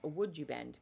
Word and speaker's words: Woodubend: Actually, you know what I would love to know from you is how many of you have heard of would you bend before? That is spelled W O D U V E N D.